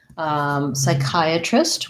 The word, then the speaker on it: psychiatrist: Has second syllable stress. That CH just sounds like the K sound. And we have the diphthong I, chi, psychi. So these two vowels, the I, those are both the same I diphthong as in I am or my I.